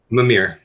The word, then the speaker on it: Mimir: That's how you pronounce it? How was it again? MIMIR.